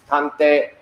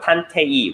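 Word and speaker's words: たんてい: In Japanese, it's tante. 탄태. Tante. 탄태. Good. Not 탄태이, right? No, tante. 탄태.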